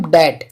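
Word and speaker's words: debt: भी साइलेंट हो जाएगा और याद रखना है टी से पहले अगर बी होगा तो भी बी साइलेंट हो जाएगा एम के बाद और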